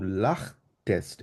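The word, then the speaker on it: lachtest: যেমন ইস লাখতে, আমি হেসেছিলাম, দু লাখ টেস্ট, এটা ক্ষয়ের মতো উচ্চারণ হবে, ঠিক আছে?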